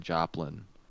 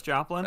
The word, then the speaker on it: Joplin: I watched the documentary about the tornadoes that happened in 2011 in Joplain. Oh yeah, Joplin. I believe they're pronounced tornaders around there around those parts.